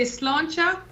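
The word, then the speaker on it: sláinte: oh there it is so you say slancha when you're going to raise a glass and then you say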